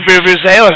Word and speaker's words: Vuvuzelas: They've got the Vuvuzelas over there. Is that how you say it, Joe? You're a soccer fan. Vuvuzelas, yeah. All right.